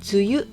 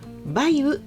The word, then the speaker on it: 梅雨: 梅雨というのは梅という漢字プラス雨という漢字を書いて梅雨と読みます。また梅雨と読むこともあります。